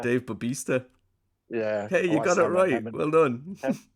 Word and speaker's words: Bautista: Dave Batista. Dave Bautista.